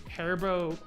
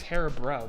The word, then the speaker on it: Haribo: I think I've always called these Haribo though, with an R Haribo.